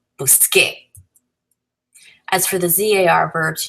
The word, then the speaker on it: busqué: So we want a hard sound, so we change the C to QU, getting busqué.